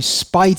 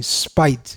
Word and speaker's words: spit: with a woman, I spite at the thought, Srila Prabhupada would say. The general pronunciation is spit, but Srila Prabhupada would say spite, and spite gives the sense of very much dislike.